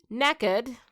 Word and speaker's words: knackered: Knackered. It's a British word. That's how you say it in England.